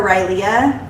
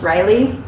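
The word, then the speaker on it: Rylea: her name r-y-l-e-a so a lot of people call her rylia but it's just riley i just wanted her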